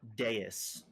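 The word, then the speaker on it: dais: It's octagonal deis.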